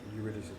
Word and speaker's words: Eurydice: Eurydice, yeah. Beautiful. I didn't even know how to pronounce it, so thank you.